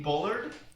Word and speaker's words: Bullard: are discussing uh Eugene Bullard uh which I have spent years mispronouncing uh in a very French way so and I've spent